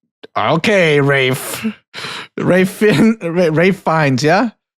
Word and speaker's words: Ralph: It's It's Rafe. That's how he said it's pronounced. Okay. Rafe.